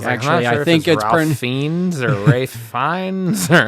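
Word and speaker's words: Ralph Fiennes: You were correct in how to pronounce Rafe Fines. You were we said like Ralph, but you you're like actually fines or Rafe Fines.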